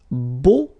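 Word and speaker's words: beaux: plural version and it's Bo okay so you put this x at the end but then you don't pronounce it so it's Bo all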